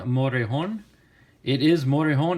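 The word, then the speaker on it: Morejón: the Padres Adrian motor a horn it is motor hone it's not more John if you guys want to pronounce it correctly it's it's actually Audrey on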